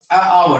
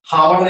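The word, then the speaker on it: hour: यहाँ पे एच का हो रहा है कि ओ का, आवर पढ़ते हैं, हावर नहीं पढ़ते हैं।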